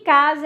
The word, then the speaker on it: casa: Aí você pensa, esse a fonético, o som que você ouve é o do Z, mas você sabe que casa é escrita com S.